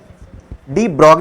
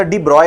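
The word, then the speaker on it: de Broglie: बगली ने बताया था डी ब्रॉग नहीं होता डी ब्रॉय होता है ऐसे करके डी ब्रॉय बट अपन इसको लिखते डी बगली जब प्रोनाउंस करोगे तो कैसे प्रोनाउंस करोगे डी ब्रॉय बट जब तुम राइट करोगे तो ड्री ब्रॉली लिखते हैं ठीक है समझ में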